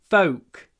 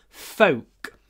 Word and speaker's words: folk: next is I like folk music Don't pronounce the L it's not pronounced folk rhymes with Coke or woke or poke folk and there is a